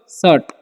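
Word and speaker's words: shut: एस एच यूटी है तो यू का उच्चारण जो है यहां पर अ होता है तो शूट नहीं पढ़ना इसे पढ़ते हम लोग सर्ट ओके और इसका वर्ब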